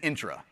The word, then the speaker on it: Entra: Entra, I've heard every pronunciation of this one. It is Intra, just so y'all know.